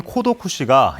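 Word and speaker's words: 孤独死: 사망이 급증하면서 처음 등장했습니다 고독사의 일본어 발음인 코도 쿠시가 영어권 국가에서 버역 없이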